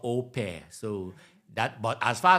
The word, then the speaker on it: au pair: I understand it's called opair so that but as far as I'm concerned the spelling is au space p a i r but I learned today that is pronounced or pair so so that is